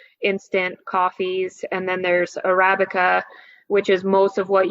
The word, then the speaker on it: Arabica: So you can get a consistent product let's say if I order Arabica, how do you pronounce that? Arabica? Arabica.